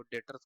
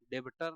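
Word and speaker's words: debtor: हम लोग बोलते हैं डेटर डेबिटर नहीं बी साइलेंट रहेगा बार-बार बोल डेटर्स डेटर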